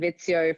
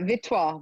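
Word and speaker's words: Vittsjö: And yes, I've been saying Vitzio for about two months and no one understood what I was saying. And it's pronounced uh Vitto, believe it or not.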